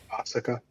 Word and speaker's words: Asuka: ever set it up is it Asuka the way they pronounce it is like Asa they like barely hint very subtle uh yeah I can't